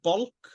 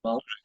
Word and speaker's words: Balch: Is it Balch? Is it Bulk or Balch? I think, yeah. Okay. Balch, yeah.